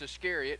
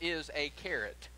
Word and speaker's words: Iscariot: got to judas iscariot help them to learn how to say his last name if you will judas iscariot by calling him judas is a carrot and that's what he's